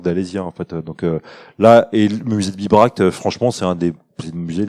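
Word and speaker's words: Bibracte: juste parce que comme ça se prononce biberact biberact comme biberon mais pas la même chose de la fin c'est il y a pas de eux non plus et du coup effectivement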